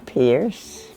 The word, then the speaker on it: Peirce: My husband's name was Clifton Pierce, and that was spelled with a P-E-I, and I always say no pie in this Pierce.